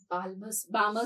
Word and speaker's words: Balmer: electron will come onto Balmer series. L is silent.